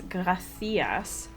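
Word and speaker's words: gracias: c i a s apparently the reason you pronounce as graas is because the Spanish King had a lisp so the population was told to to like instead of so that he wouldn't feel singled out or something I don't know how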